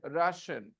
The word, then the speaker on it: Russia: There is no E sound. I is silent.